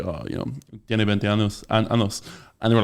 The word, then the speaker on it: años: So one really common one is saying, if you want to say I am 20 years old, You say tengo 20 años.